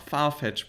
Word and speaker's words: Farfetch: Es heißt einfach Farfetch, Bro. Echtiger Punkt. Also falls ihr Klamotten bei Farfetch gut findet, könnt ihr gerne bei Twitter einfach mich drauf verlinken und dann gucke ich mal nebenbei.